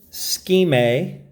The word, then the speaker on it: SKMEI: this is a review of the scheme which is how you pronounce it digital watch that is